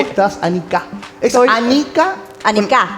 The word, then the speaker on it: Annika: Annika. Es Annika. Annika. En alemán de tendencia siempre la pronunciación Sí. es la primera sílaba, por eso yo creo que la gente lo siente como un idioma Más duro duro.